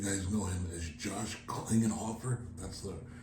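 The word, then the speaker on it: Klinghoffer: My partner here definitely knew something about it, but I believe you guys know him as Josh Klingenhofer. That's the right pronunciation.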